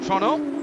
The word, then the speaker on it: Toronto: a straight circuit here toronto or toronto as the locals have told me it's got to be pronounced estep still out